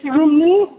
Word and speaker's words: Rumi: Is that pronounced right, or did I screw that up? Rumi. It's Rumi.